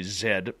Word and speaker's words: Zed: Zed, because I am Canadian, so I got to say Zed, proper pronunciation of the letter.